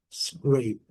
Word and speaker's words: scrape: Então, quando nós temos esse e, ele nos faz, nos reporta aqui a uma pronúncia de um a bem longo. Por não termos o e aqui, o a é bem curto.